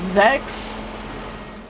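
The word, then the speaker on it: Sechs: All right, this is the sex empire that I believe it's supposed to be pronounced Zex cuz it's German, but it is sex in the Japanese.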